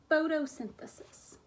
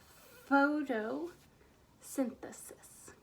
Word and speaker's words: photosynthesis: that word photo synthesis now that one's a little tricky because it has the foot foot sound at the beginning right but I don't see an F what do we see